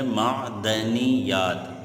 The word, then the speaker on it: معدنیات: بعد اگلا لفظ ہے معدنیات، معدنیات، درست تلفظ ہے معدنیات، ٹھیک ہے بیٹا۔ اس